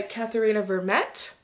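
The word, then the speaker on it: Katherena Vermette: is the break by katharina vermette that's at least how the name is pronounced in the audiobook um because i totally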